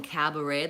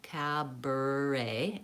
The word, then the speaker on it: cabaret: The vowel in cabaret, the first vowel is vowel A, the black cat vowel, cabaret, and this middle vowel is purple bird, and then A, the last vowel is A, gray day, cabaret.